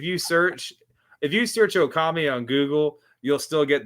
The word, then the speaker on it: Okami: It is Okami came up just because my middle name is and so translated in Japan it'd be Okami and it rhymes with Tommy.